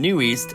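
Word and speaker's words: NU'EST: Only in the last year that I learned that you're supposed to pronounce the groups EXID and New East as the way I just said. Prior to that, I've always been saying Exid and Newest.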